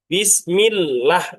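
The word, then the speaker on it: بسم الله: Maka disebut dalam istilah ilmu tajwid lam lafaz Allah wajib tarqiq atau wajib tipis. Jadi bacanya bismillah jangan bismillah.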